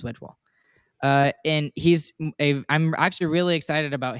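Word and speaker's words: Wedgewood: You've got Wedgewall, who is going to be awesome. Yes, I know I said it wrong. He is Wedgewall.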